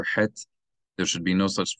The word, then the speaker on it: het: If you struggle to produce the sound of het, it's better to just pronounce it like an H. If it's at the beginning of a word or in the middle of the word, pronounce het like the letter H in English, like the letter hey. Even though that also would be an incorrect pronunciation, but it's much closer to the correct pronunciation of het than chaf is, to the point that